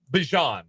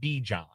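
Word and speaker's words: Bijan: Sayan Barkley at running back or maybe you take Bian Robinson. Uh, Bjon. Sorry, it's Bjon Robinson. It rhymes with Djon. He tried to tell us. It's Bjon. It's not Bon, it's Bjon Robinson.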